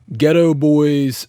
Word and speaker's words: Geto Boys: Now this one sounded good using the Ghetto Boys free profile.